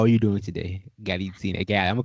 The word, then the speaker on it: Galitzine: So I am now on the line with a Miss Galitzine yes.